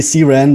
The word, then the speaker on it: CRAN: called cran right or the cran however you pronounce it yes um there's another good question we'll see we'll see what the split is on that one yeah i learned it's officially see ran but oh okay i've